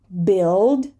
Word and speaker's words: build: something it's just faster here we have a silent U build build dark L remember